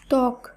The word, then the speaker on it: ত্বক: আবারও বলি, শব্দের প্রথম বর্ণে যদি বফলা যুক্ত থাকে সাধারণত সেই বফলার উচ্চারণ হয় না। যেমন স্বাধীন, স্বদেশ, জ্বালা, ত্বক, শ্বাস, ধ্বনি। লক্ষ্য করুন, এই প্রত্যেকটি শব্দেরই প্রথম বর্ণে বফলা যুক্ত আছে, কিন্তু শব্দগুলিকে যখন আমরা শুদ্ধভাবে উচ্চারণ করব তখন সেই উচ্চারিত শুদ্ধ শব্দে কিন্তু আর বফলা থাকছে না।